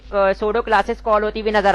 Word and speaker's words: pseudo: क्या रख रहा हूं, सूडो क्लास रख देता हूं, अच्छा पी यहाँ पे साइलेंट है, सोडो डॉट HTML।